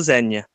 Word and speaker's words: Zegna: That's how you pronounce Yeah, it. it's Hermenegildo Zegna.